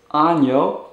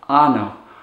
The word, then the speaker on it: año: And be sure to pronounce the y sound after the n so that it's año and not ano.